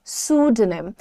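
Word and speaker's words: pseudonym: आप बोलोगे sued नेम सू नहीं सूड नेम okay this was हिज सूड नेम आई am going to take a न्यू सूड नेम मैं अपने लिए एक नया उपनाम लेने जा रही हूं तो आप यूज़ करो इन वर्ड्स को सूडो निम बोलो और लोगों को भी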